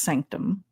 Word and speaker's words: SNCTM: But it's spelled SNCTM. It's pronounced sanctum.